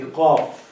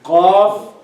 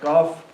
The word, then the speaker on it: ق: sad, you make it full. Qaf, you make it full so that it would be differentiated from the others. So what mistake I was making? I was not pronouncing it calf completely. Yes, Okay. you are trying to, you were making it a little bit light.